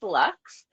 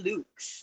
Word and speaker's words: Lux: whatever you like so usually it's Lux but then like w calls me Lukes so it depends where you're from and I love the